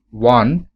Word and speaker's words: one: should use a because when you pronounce the word one it starts with the sound w not o that's why we have